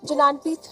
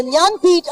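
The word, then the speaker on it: Jnanpith: try that yes yeah janit award it is absolutely the nanit award it starts with a J but it's pronounced with a the Nyan pet award let's see this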